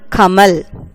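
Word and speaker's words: कमल: Example, Kamal, lotus. If you pronounce this word Kamal, in the each letter of this word has the A sound.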